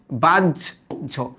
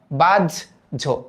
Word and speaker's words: বাহ্য: বাহ্য একটা শব্দ আছে, মনে রাখবা হয় জফলা যদি থাকে তাহলে উচ্চারণটা আসে বরিগত জ আর ঝয়ের মতো, বর্গীয় জ আর ঝয়ের মতো। তাহলে উচ্চারিত রূপটা কেমন আসবে বলো তো? বাজ, এই যে বাজ, তারপর ঝো, বাজ ঝো, বাজ ঝো, এরকম আসবে।